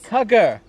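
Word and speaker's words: Kuggar: the lizard today Sarah we need kuger rhymes with bug not again can't say that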